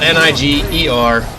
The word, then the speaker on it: Niger: a country in africa it's spelled like that word that people hate a lot and this is why i said don't be butthurt because it has nothing to do with that um but it's spelled niger not 2gs he wanted to be